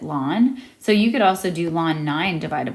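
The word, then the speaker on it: ln: We pronounce it lawn.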